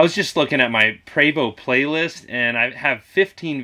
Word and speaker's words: Prevost: me some unsolicited advice and tell me that pray bow is pronounced Prevot and that I'm the one pronouncing it wrong